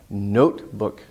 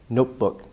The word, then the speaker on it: notebook: wouldn't really make sense notebook notebook notebook the main part has more stress and it's a long vowel oh no oh oh